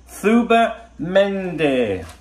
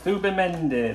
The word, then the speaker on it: Zubimendi: they said to me you pronounce it thuba mende right thuba mende there you go that's